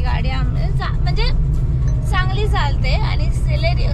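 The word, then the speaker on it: Celerio: म्हणजे चांगली चालते आणि सेलेरियो सिलेरियो ना सिलेरिओच बोलतात ना हा करेक्ट माझं प्रोनन्सिएशन कधी कधी गडबडत सेलेरिओ ही बेस्ट गाडी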